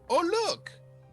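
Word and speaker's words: Oollok: right here we go it's pronounced oh look 22 even higher 22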